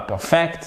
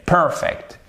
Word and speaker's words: perfect: Ah, c'est pas perfect, mais perfect.